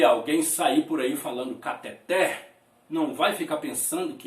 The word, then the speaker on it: cateter: a pronúncia caracteres e a respeito da palavra catéter que todo mundo fala na verdade Esta palavra não é cateta e sim cateté então chegamos ao final